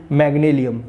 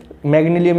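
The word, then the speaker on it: Magnalium: ये थोड़ा सा इसका प्रोनाउंसिएशन थोड़ा सा डिफिकल्ट है, कौन सा है, मैंगलियम क्या है भैया, देखो इसमें ये क्या है, EMG और AL, मैंगल, हाँ कितना सिंपल यार, EMG और AL, मैग्नीलियम, ठीक है।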